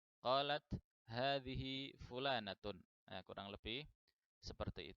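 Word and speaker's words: هذه: Kemudian yang kedua adalah ketika membaca hadhihi, ini haknya adalah hak tanbih dan ini panjang, ya, jadi bacanya dipanjangkan. Man hadhihi? Qalat hadhihi fulanatun.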